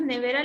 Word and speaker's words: nevera: por ejemplo y nevera cuando nosotros pronunciamos nevera lo hacemos de la siguiente manera ni de la dulce está ve ni ve es aquella que tiene la mayor fuerza entonces vendría a ser la sílaba tónica porque es donde nosotros